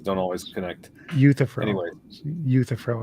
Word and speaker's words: Euthyphro: Euthyphro is how you pronounce that.